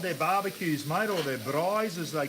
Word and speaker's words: braai: Inviting some friends over for a bra. A braai.